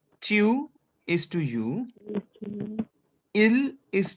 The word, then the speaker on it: tu: So if you have an informal you in French, that we called as tu.